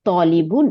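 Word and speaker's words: طَالِبٌ: কিন্তু লম্বা করার জন্য ত আলিফ জবর ত লাম জের নি বা বা দুই পেশ বু বুন তাইলে তলিবুন ইনডেফিনিট নাউন তাই না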